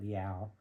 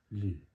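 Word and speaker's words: L'Eau: I had to look it up because I used to call it Liao. So I'm sorry if I butchered it in other videos. It was embarrassing when I learned out it was just pronounced Lou.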